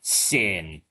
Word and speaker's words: SYN: It's very cute and sweet, and it's named Sin after original sin, but it's spelled differently. It actually is short for synchronization.